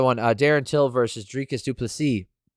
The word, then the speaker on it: du Plessis: Darren Till versus Dricus du Plessis. The S is silent.